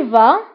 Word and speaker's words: vas: tu vas تذهب يعني أنت تذهب أو أنت تذهبين. فبالنسبة لتو vas فتكتب بإس ولكن ما كنطقوهاش.